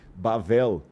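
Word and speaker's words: בבל: Ao invés de falar Babilu, chamou de Bavel, que na nossa Bíblia está como Babel.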